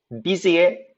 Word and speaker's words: busy: busy의 부 발음 주의하세요. I kept getting a busy signal. I kept getting a busy signal. busy 할 때, 그러니까 부 발음을 할 때는 조금 더 울리게 발음한다는 걸 항상 의식을 하셔야 돼요.